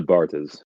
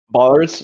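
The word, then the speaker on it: Barthes: How how do we compare this to Bartis or is it Bart? I can't remember how you say if you pronounce the th in that bars. Ronald Bars.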